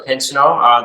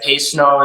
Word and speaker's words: Pinsonneault: We pronounce it the English way, so Pinsonneault. There's like Pinsonneault is the French way, so there's a couple different pronunciations there.